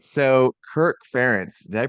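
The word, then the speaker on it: Kirk Ferentz: the car and go okay all right so Kirk fence did I pronounce his name correctly yes yeah yeah all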